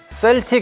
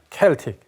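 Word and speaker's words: Celtic: 그 켈트 FC, 그러니까 정확한 발음으로는 셀틱 FC라고 들어보신 분들이 있을 거예요. 이 셀틱이 아일랜드식 발음으로는 켈틱이거든요. 켈틱.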